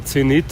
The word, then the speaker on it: Zenith: There's another Zenith radio here, or Zenith as we pronounce it in German.